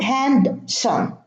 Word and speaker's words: handsome: So there is no D in Wednesday, in handsome, and in handkerchief.